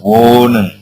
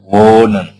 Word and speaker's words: wohnen: pada pengucapannya tidak terdengar contoh nih pada kata kerja wonen nah kita kita lihat wonen ya O terdengar lebih panjang ha tidak terdengar ya wonen ya kita mengucapkan n bukan wohnen bukan tapi wonen ya O terdengar S